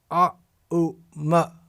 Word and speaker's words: Aum: In other words, Om is pronounced A, U, Ma. When these 3 syllables are joined together, A, U, Ma, then we get A, then we get Aum.